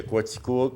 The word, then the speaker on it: Coaticook: non pas quoi c'est vraiment c'est officialisé que coatico et puis quoi tu crois c'est une main que ça se prononce et non pas de nos manières donc